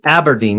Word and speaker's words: Aberdeen: to always correct myself, it's Aberdeen. You said, say it like an apple. Aberdeen. And I always want to call it Aberdeen, but Aberdeen. It's Aberdeen, but yeah.